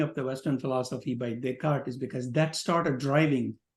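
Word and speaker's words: Descartes: deart d s c a r t s deart is how it's pronounced he is the first one who introduced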